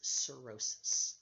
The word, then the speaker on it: cirrhosis: this problem of course as cirrhosis see i RR h o sis it's got a weird spelling blip silent H in the middle CI RR h o